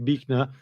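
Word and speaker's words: Buechner: And this fell here is a guy called Frederick Bner although it's spelled Bner but uh Fred Frederick Bnner and he was a uh quite a amazing storyteller and and sermon giver.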